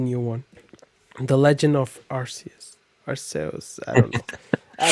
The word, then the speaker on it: Arceus: Arceus. Say it. Arceus? It's Arceus.